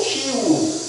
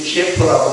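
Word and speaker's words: Київ: 우리가 우크라이나 관련 뉴스를 보시면 우크라이나 수도 키우 많이 들으시죠. 키우. 우리 키예프라고 말하는데 우크라이나 사람들은 자꾸 키우라고 발음을 해달라고 이제 그래요.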